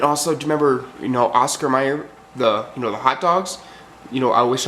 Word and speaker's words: Mayer: My baloney has a first name is M-E-Y-E-R. Not with an A, that's Mayer. And I've even heard people say that on the internet.